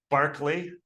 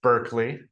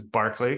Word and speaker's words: Berkeley: say his name, George Berkeley. It's not Berkeley, because his name is Berkeley, because he's Irish, and that's how you say his name.